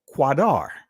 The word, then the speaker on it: Kedar: spelled this way because the Hebrew word that's actually in the text is quadar so I am black